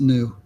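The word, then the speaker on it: ν: it's this symbol is the frequency and it's pronounced new oh happy New Year everywhere I go I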